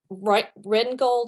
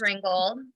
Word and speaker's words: Ringgold: So, I bring in Rengold, I always pronounce her name. She's a mixed media artist. Faith Ringgold.